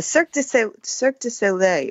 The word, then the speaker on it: Cirque du Soleil: Thank you for correcting my pronunciation. It's the Cirque du Soleil, which I didn't know until I read this.